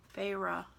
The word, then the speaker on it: Phyrra: Phyrra. That's how you pronounce it.